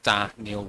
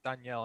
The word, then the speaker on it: Danielle: on twitch has said he also says da neil hunter as well ah good i'm glad i'm not on my own i i i'm pretty sure that is how you say it because everyone says danielle and i'm like oh i've been saying this wrong all these years i wouldn't want to